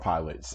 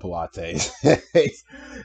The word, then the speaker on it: Pilates: It's called pilots. It's not called Pilates. It's called pilots. Pilots, not Pilates. I'm not sure that's just a foreign thing. That's just how it's pronounced over there.